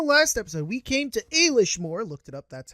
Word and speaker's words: Éilís Mór: door in the last episode we came to a leash more looked it up that's how it's pronounced we're supposedly the cron Midian is which